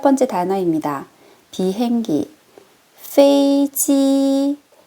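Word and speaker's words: 飞机: 비행기 페이지 일성일성으로 처음부터 끝까지 발음 끝날 때까지 유지해 주세요.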